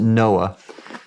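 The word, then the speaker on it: NOAA: Oceanic and Atmospheric Administration we pronounced it Noah uh that uh we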